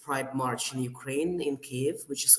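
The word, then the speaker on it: Kyiv: i want you to please try pronouncing the name of our capital cave not kiev because kiev is a russian pronunciation and we don't like it so i am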